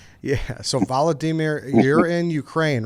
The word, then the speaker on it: Volodymyr: right now and um his name is valodimer uh they they pronounced vladimir a little different and ukraine he just told us which was uh you know news to us you're right yeah so he said the same name as our enemy but pronounced a little differently yeah so voladimir you're